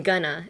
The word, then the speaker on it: gonna: going to write I'm gonna in an essay. You only use it when you're speaking. So how would you pronounce I'm gonna? I'm gonna. Gonna. Emphasis on the ga.